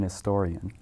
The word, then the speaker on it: historian: or not you say you don't say I am a historian you say I'm an historian the H is silent it's gonna get back